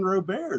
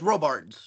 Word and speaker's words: Robards: of my favorite actorss did you call him Robards I think yeah I probably mispronounced his name okay I just wanted to make sure it's Robards Rob very anglicized yeah great actor great